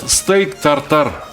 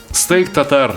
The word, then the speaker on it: steak tartare: Où disent-ils "steak tartare"? Ces français ou anglais ne pouvaient tout simplement pas le prononcer correctement. Nous devrions dire "steak tatar".